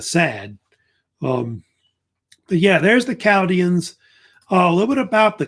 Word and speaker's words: Chaldeans: The H is usually pronounced, is silent, by the way, Chaldeans.